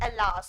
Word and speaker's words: alas: You will read it out loudly, alas, not alas. Alas नहीं है, इसका pronunciation is alas.